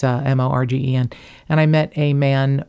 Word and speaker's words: Morgen: It's Morgen.